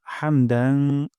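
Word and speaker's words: حمدا: করলে সুন্দর হয় হামদ গলার মাঝখান থেকে হা উচ্চারণ করব রব্বানা ওয়ালাকাল হামদ আর যদি মিলিয়ে পড়ি তাহলে হবে রব্বানা ওয়ালাকাল হামদু তারপর হামদান হা গলার মাঝখান থেকে যেন হায়া যায় হামদান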